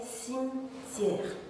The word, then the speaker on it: cimetière: une enceinte et rêve dans cette phrase est cimetière il remporte d'effectivement quatre syllabes 6 me thiais rosny mais lorsqu'il faut